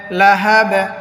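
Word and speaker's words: لهب: পড়িতে হয় যাতা লাহাব লাহাব বিন হয়তো অক্ফ করার কারণে লাহাবে হবে লাহাব বাটা হায়ের সাথে মিলে যাবে কলকলার উচ্চারণ হবে পাল্টা আওয়াজ দিয়ে পড়তে হবে সায়াসলা নারন সায়াসলা নারন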